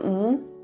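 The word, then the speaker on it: 嗯: i got it the other pronunciation of is the second rising tone um we used to show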